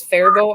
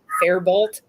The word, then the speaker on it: Faribault: I didn't know that Faribault was Faribault. I thought it was Faribault.